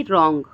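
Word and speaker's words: wrong: बढ़ते हुए देखते हैं अगर आर से पहले डब्लू आ जाए तो क्या हो जाता है डब्लू साइलेंट हो जाता है जैसे कि रॉन्ग राइट रंग राइट रैप रैपर रिंकल और रेस्ट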